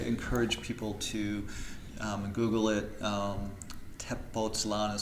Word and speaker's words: Tepoztlán: It being, or Tepoztlán being close to Mexico City, and it's up